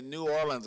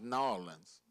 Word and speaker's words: New Orleans: A lot of people say New Orleans. I think we're supposed to pronounce New Orleans.